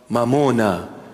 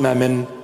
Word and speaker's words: mamona: Mamona, in our language. Mamona, mammon. In English, they just translated it, you know, sounding Aramaic. Almost Aramaic. It's not mammon, mamona. Come, I teach you the proper pronunciation.